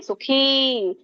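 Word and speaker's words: ಸುಖೀ: ಅಂತ ಹೇಳಿ ಸಂಯುಕ್ತ ಸ ಸುಖಿ ಖ ಕೆ ದೀರ್ಘ ಇದೆ ಹಾಗಾಗಿ ಸುಖಿ ನರಹ ಅಂತ ಹೇಳಬೇಕು ಸೋ ಇದರ ಒಂದು ಅರ್ಥನ ನೋಡಕೊಂಡು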